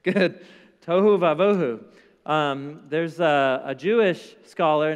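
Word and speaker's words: תֹהוּ וָבֹהוּ: little phrase in Hebrew it rhymes it's brilliant it rhymes the phrase is Touhou Bravo it's good it's good Touhou Wabo who there's a Jewish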